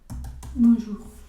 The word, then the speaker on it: bonjour: Otra nube de palabra puede ser todo lo que tenga OU, ¿no? Que se va a pronunciar como una U, amour, pour y bonjour.